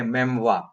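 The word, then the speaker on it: memoir: अब हम आ गए मेमवा पे। ये फ्रेंच से आया है, आर प्रोनाउंस नहीं होगा, मेमवा बोला जाएगा।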